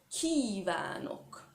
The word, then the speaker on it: kívánok: Kívánok, là, j'exagère à peine, donc c'est vraiment un I long.